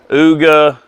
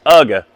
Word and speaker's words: Ugga: It's like UGA. That's Ooga. I've heard him called Ooga, Ugla. How do you say that name? All kind of different stuff, but it's Ugga.